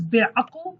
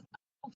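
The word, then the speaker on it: bêaqil: If you cannot pronounce this letter, you can pronounce it as a. Be'aql. Be'aql. Some people pronounce it as aql. Some people pronounces it as aql. I know is difficult for you as a as an English speaker, or if you speak another language and you cannot pronounce that sound, then you can play safe and use like be'aql.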